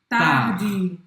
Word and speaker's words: tard: Tarde. Mas você não vai pronunciar o D no final.